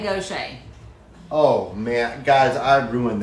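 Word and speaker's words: Gautier: And the first year we're there, he butchered it. He called it Godier. Goshen. How hard's Goshen?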